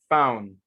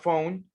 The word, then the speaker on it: found: Found, okay? Found, not phone, found.